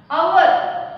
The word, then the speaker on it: hour: Hour. Here h is silent, but the word begin with consonant, but it creates a vowel sound, hour.